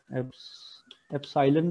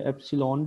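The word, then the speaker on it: epsilon: इसके इसके स्पेलिंग है ए सालन भी पढ़ते हैं इसको या एप्सन भी य इसको आपने इस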